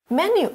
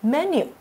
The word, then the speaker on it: menu: Menu, 菜单,重音在第一节哦,同学们念的时候要特别小心,我们念作 menu, menu.